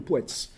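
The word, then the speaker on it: puec: Ce type de prestation obligatoire qui permet de sanctionner le statut d'aîné, s'appelle à Marais le poets. Poets, P-U-E-C. Le C, ce phonème se prononce tel qu'il est noté.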